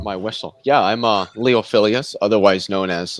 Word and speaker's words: Leophilius: apologize gotta what my whistle yeah i'm uh leophilias otherwise known as leophilius but most people can't pronounce that so they just call me leo